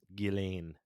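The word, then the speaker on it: Ghislaine: i just said it's uh gillane whenev when when you watch anything about her they say her name right now so gotcha it is it's guillain but i'm going to continue to call her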